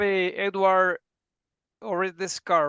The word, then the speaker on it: Osredkar: And then we have Edward Osredkar, right? Did I pronounce it?